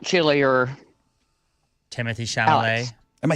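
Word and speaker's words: Chalamet: uh the the other not Chile or Timothy shal am I saying it right it's Timothy Timothy shalam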